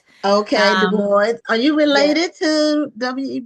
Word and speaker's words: Dubois: Dubo, are you related to Web Dubo? I am not, but he is my namesake. So, I like to pronounce my name the way he pronounced his.